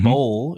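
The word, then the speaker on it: bolle: Uh and this is a lemon bowl is the correct way to say this.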